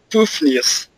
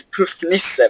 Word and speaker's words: Puffnisse: In Swedish we say Puffnisse, but you can say whatever you want.